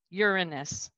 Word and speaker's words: Uranus: uranus as a planet i prefer to pronounce it uranus so everybody grab your pencil believe it or not uranus so all the way